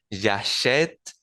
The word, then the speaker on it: j'achète: Como pueden ver, se colocó ese acento allí para poder pronunciar esa E y decir j'achète, tu achètes, il achète, elle achète, on achète. Bien, achète con esa E pronunciada, la E primero.